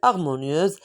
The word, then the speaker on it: harmonieuse: harmonieuse vous avez remarqué on n'a pas accordé le tout parce que inquiète voyelle harmonieuse c'est h muet il faut savoir pour